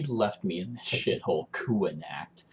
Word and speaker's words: Connacht: Like, he left me in this shithole Kuanact, which I thought was pronounced Connacht this entire time. But I'm apparently wrong because obviously the designers of the game know how it's pronounced.